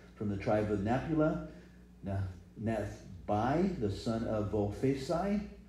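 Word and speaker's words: Vophsi: From the tribe of Naphtali, Nethbai, the son of Vophesi, or Bossi is another way of pronouncing it.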